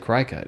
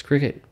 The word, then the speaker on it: Cricut: icon or something like who would have thought it's like cry cut it's obviously nope it's cricket they don't tell you